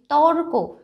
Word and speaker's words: তর্ক: ত কয় রেফ, তর্ক। উচ্চারণ কি করছি? তর্ক, মানে কয়ের আগে কিন্তু একটা রয়ের উচ্চারণ আসছে, তর্ক।